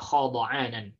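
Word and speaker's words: خَضَعَانًا: Ya, dibacanya khada'anan dengan fathah, ya, dhad ainnya.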